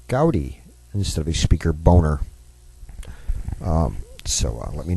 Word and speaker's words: Boehner: uh replace Speaker John boner I know he pronounces it Boehner I speak German John your last name is pronounced Boer but uh to replace uh